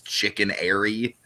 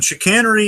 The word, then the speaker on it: chicanery: when I read it I just read it as chicken Airy and so I was like oh it's chicken but no obviously it's not spelled like chicken I'm an idiot okay